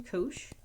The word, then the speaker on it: cosh: The hyperbolic cosine function, cos with an extra h -- this is pronounced as it's written, cosh -- is the same